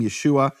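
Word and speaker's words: ישוע: of nun meaning there's no question from any serious scholarship about how to pronounce that name Yeshua no question whatsoever right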